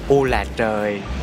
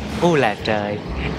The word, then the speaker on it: u là trời: The popular ones is "Oh my God" in America, but in Vietnamese we say that "Ô là trời." Ô là trời. Repeat this. Ô là trời.